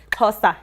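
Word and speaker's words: Xhosa: that's how you say it but to me Casta is how you say it and then so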